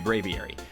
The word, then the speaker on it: Braviary: Sometimes I'm going to mess up, but Braviary.